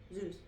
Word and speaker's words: Zeus: Zeus. That's how you pronounce it.